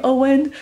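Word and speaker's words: Eoghan: And so I asked them if this was an issue, like if they knew how to pronounce the name Owen, spelled E-O-G-H-A-N, and mostly no.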